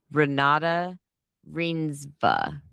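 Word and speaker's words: Renate Reinsve: It says her name is pronounced Ranada Reinva.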